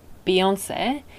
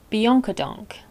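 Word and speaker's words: Beyoncé: on youtube pronunciation book will tell you it's beyonce and pronunciation menu will tell you it's bianca donk here are some more pronunciations from pronunciation menu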